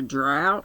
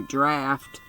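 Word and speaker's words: draught: Now I wonder, he murmured, is there a drought? Perhaps it would be better if I moved my chair back into the corner. No, draft. That's the way it's spelled.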